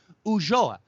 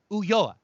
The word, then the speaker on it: Ulloa: It's a double L in Spanish. It's Ulloa. And I said, no, I'm fairly certain it's Ulloa. And we went back and forth for 4 or 5 minutes. It was freaking comical of the Mexicano saying Ulloa and me just absolutely positive that I was doing the right thing by adding that little je to the double L there and referring to him as Leonardo Ulloa.